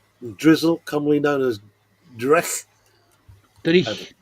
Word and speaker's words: dreich: No, it doesn't Driechen doon. It's just Drich.